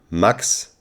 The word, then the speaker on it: Max: Maximilian Maximilian and now how would be max pronounced max and the second most used name in Germany